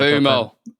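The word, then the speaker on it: Mbeumo: I know things are a bit tight, but we seem to be signing Konya and Buemo. Did I pronounce it And right? Boomo.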